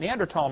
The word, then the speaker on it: Neanderthal: By the way, in case you don't know, the Neanderthal Neanderl, the H is silent. Neander tall man is named after